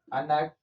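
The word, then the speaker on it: ἀνάγκη: griego, que se llama, que es, se pronuncia aquí, Anak, que significa fatalidad.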